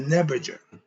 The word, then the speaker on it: Neberdjer: Starting with what they call the Neberger. Neberger. Okay, it's spelled Neberdjer. That's top.